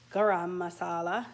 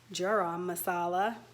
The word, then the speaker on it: garam masala: cooking with chetna that it's pronounced garam masala not jerome masala american accent um so i bought